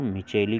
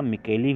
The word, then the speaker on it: Micheli: कवक विज्ञान के जनक पी एंटोनियो मिचेली को कहा जाता है। कहीं कहीं पे देखिएगा मिकेली भी लिखा मिलेगा, पी एंटोनियो मिकेली, लेकिन स्पेलिंग आप ध्यान दीजिएगा, पी एंटोनियो ANTANIOMICHELI।